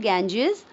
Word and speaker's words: Ganges: Ganges बेटा जो हमारी इंडिया में रिवर है, गंगा नदी, उसी का प्रोनाउंसिएशन है द गैंजेस.